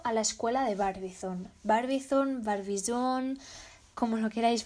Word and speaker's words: Barbizon: a ir ligado a la escuela de barbizón barbizón bar visión como no queráis pronunciar barbizón es el nombre de un pueblecillo